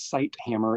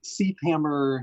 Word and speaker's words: Ceithamer: We get Syd Hammer, Syd Hammer. There's a TH in there that when you pronounce it, it is separate. But when it's all together, it looks like there'd be a, but there's no in there. It's just a.